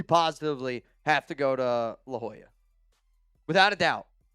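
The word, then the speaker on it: La Jolla: at the time and I saw I go Ljala. That's exactly how I pronounce it in my head. Um but it's La Hoya and there's like a bunch of seals there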